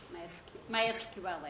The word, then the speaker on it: MySQL: It's MySQL, or MySQL. how is it? How do you say it? MySQL? MySQL? MySQL? Okay, MySQL actually.